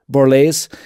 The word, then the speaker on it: Borlase: Borlase.